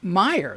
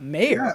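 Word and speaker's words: Mayer: yeah the song this they pronounce it oscar meyer though right i mean not mayor yeah i can see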